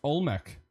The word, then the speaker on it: Olmec: you didn't know no it's pronounced look at look uh Mr M it's pronounced Olmec what do you mean